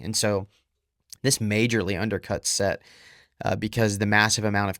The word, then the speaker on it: Set: They had a god named Set, and it's spelled Seth, but it's pronounced Set, I believe.